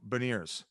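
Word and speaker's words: Beniers: goes to school with matthew baniers is how you say it yeah beneath that veneers and uh he was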